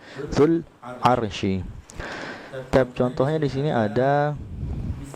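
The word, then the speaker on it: ذو العرش: Jadi zul arsy itu kan zu al-arsy, ini keliru. Jadi bacanya langsung disambung zul arsy.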